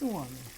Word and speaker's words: umami: What's umami? Umami. How do you say it? Well, we say umami, but the ladies of the night in Naples used to say it like this. Umami.